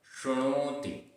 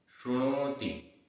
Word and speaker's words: शृणोति: यह शृणोति। शृणोति, यहाँ पर नीचे रेफ है।